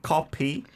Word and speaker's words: 커피: And then copy coffee. We don't have an F sound in Korean, right?